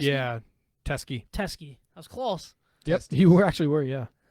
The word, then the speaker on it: Teske: Tresky? Yeah, Teskey.